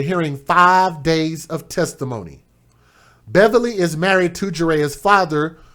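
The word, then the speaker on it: Bevily: t apostrophe k-i-a takia last name beverly not beverly but b-e-v-i-l-y who's 28 years old we're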